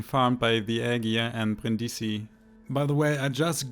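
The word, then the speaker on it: Brindisi: forever and being farmed by the eggier and brindissi by the way i just googled the correct pronunciation of the brin dc in case someone from italy is watching sorry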